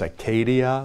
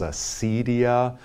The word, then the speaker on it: acedia: Sometimes pronounced Acadia, sometimes Acedia.